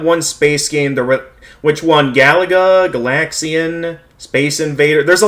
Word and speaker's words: Galaga: Actually, it's pronounced... Galaga.